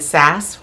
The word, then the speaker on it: SAS: it's from smart and SAS rhymes with sass they actually have a